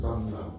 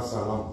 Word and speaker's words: Sanlam: Et c'est d'origine anglo-saxon et on le prononce Sanlam. Sanlam, ok. C'est pas Salam, c'est Sanlam.